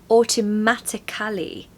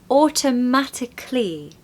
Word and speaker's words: automatically: example would be dramatically people tend to say automatically or dramatically or systematic Cali and I completely